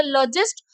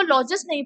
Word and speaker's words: logist: तो लॉजिस्ट, लॉजिस्ट को लॉजिस्ट नहीं पढ़ते, इसकी प्रोनाउंसिएशन होती है लजिस्ट.